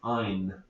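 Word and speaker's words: yne: So if it ends in a triple bond, the suffix we use is Y-N-E, which I pronounce ein.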